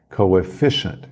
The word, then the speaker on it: coefficient: inglês é coefficient coefficient a ênfase da tonicidade é no f fe coefficient coefficient já o 12